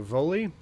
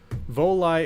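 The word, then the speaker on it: Volii: that we can go to volley or it's Voli okay Voli is the proper pronunciation so let's go here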